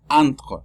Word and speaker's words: entre: Pero, el AEN, la primera E se dice A, como A, ¿sí? Porque es EN. Recordemos que EN se pronuncia AN, entre. Entonces se pronuncia entre. entre. Es un poquito difícil porque es una A con N y luego viene una R. Entonces la R es una R francesa. Hay que pronunciar a la R con la garganta.